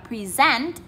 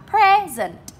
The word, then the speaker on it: present: Nếu mà cái từ này mà là động từ, là thuyết trình ý các bạn ạ, thì chúng mình đọc là present.